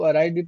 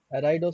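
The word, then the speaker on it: arid: और semi अराइड ज इसी को अराइड प्रोनाउंस करते हैं कुछ लोग एड भी पढ़ते ठीक हैसे अराइड इसका सही प्रसन एराइड सेमरा न का मतलब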